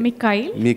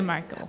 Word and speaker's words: Mikhail: It's Michael, right? Mikhail. But I'm not Russian, so okay. You can say Michael. I'm going to say Michael.